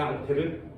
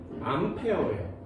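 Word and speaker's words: Ampère: 앙페르? 이 사람이 만든 건 오름나사 법칙이에요. 그래서 손으로 이렇게 만들어서 방향을 정하는 법칙을 만들어낸 사람인데 앙페르. 영어 같진 않지, 그치? 그죠? 이 앙페르의 영어식 발음은 암페어예요.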